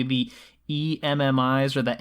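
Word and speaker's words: EMMI: get really frustrated by it, is am I pronouncing this correctly, the E.M.M.I.s or the E.M.M.I.s?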